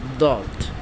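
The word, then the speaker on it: ضاد: এবার আমরা পড়বো দদ দদ দদ দদ।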